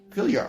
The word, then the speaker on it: Fylgjur: The animal helping spirits, most notably you might have to help me out on this pronunciation, Fylgjur, Fylgjur. The J is a Y. Fylgjur, okay, thank you.